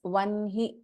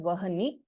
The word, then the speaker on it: वह्नि: Even then we pronounce this as vanhi only.